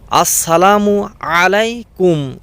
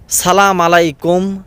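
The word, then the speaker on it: السلام عليكم: আপনার উপর বর্ষিত হোক কিন্তু আমরা এর উচ্চারণ ঠিকভাবে করতে পারি না আমরা এমন দুর্ভাগা মুসলমান অনেকেই সালাম দেয় সালাম আলাইকুম সালা মুলাইকুম কত রকমের উচ্চারণ আমরা এমন জাতি যে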